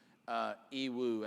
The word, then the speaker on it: Yiwu: It's a city named Yiwu, actually, is the way it's pronounced.